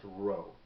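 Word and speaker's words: rho: version of it which looks like a p but it's pronounced row and that's going to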